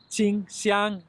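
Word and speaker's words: 清香: actually called in Chinese qingxiang, and qing means clear. So in one case, nongxiang means robust fragrance, and in the other case, you have 2 high tone, qingxiang, clear fragrance.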